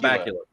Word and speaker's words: Bakula: Scott Bakula. Yeah. I wasn't sure because I've heard it pronounced, a couple different ways, so I was never really sure.